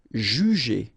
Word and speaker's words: juger: Alright, so first you've got this J and U, ju, and then you get G and E here. So normally the sound when you combine the two, it's j, j, but then ER at the end, E. Juger, juger.